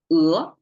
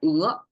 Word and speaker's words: 鹅: Just by the sound of it, we just use one syllable and one vowel to be accurate to express one animal, 鹅.